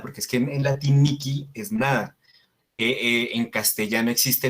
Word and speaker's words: nihil: Después, la H se pronuncia como una K. Entonces, se dice Miki y se dice Nikil.